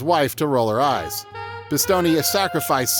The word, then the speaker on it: Pistone: When Joe receives his commendation, the official mispronounces his name as Pistone, causing his wife to roll her eyes. Pistone has sacrificed 6 years and nearly destroyed his